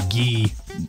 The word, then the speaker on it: guy: calling somebody french like like saying guy in french which is ghee like it's spelled guy in english but it's pronounced so i guess i